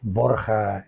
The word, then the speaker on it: Borgia: papa borgia el papa borgia como queramos pronunciarlo Borja en castellano que es el papá